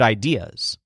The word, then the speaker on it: idea: come up with good ideas the word idea which is spelled just like the English word idea but stresses day shows that he always